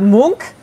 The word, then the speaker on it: Munch: and even though it's spelled munch it's actually pronounced Luke so edvard monk was Norwegian born in 1863 died in 1944